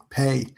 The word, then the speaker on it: Pe: It's like pay like like pay somebody. That's how you pronounce it. Pay.